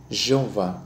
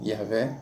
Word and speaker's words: Jeová: nós vamos adotar aqui a pronúncia para o tetragrama a pronúncia será Jeová ou Jé Ok se você preferir Jeová ou yé tudo bem fique à